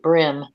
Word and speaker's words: bream: Some people pronounce it brim.